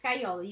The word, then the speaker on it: Scagliola: Wait, did I say it right? It's Skyola. You did Skyola.